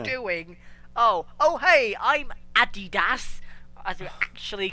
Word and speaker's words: adidas: leeway here but the the company calls themselves adidas that's how it's pronounced that's what it says adidas oh my god all